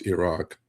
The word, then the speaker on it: Iraq: Uh, but truthfully, it's Iran, and truthfully, it's Iraq. Um, that's the way you should pronounce it, you know?